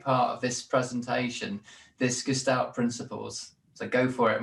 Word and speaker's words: Gestalt: Actually, it should be pronounced Gestalt.